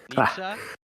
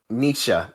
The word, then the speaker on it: Nietzsche: Nietzsche? He what Nietzsche. Thank you. Sorry, I'm very bad with pronunciations.